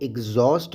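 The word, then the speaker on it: exhaust: कहते हैं exploit एग्जॉस्ट एग्जॉस्ट इस लफ्ज को हम एग्जॉस्ट प्रोनाउंस करते हैं एग्जॉस्ट का मतलब है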